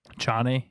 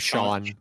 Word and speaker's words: Chane: Chane. I like Chane. Sean. His name's Sean. Sean. It's just a weird way to pronounce. It's a weird spelling, but it's just Sean.